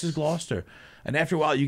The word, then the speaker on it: Gloucester: town oh yeah no it's spelled like Gloucester but right it's Gloucester and then there's also